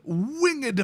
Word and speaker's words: Winged: So, next up, we've got Winged Portent. You gotta 2-syllable it. You gotta do it.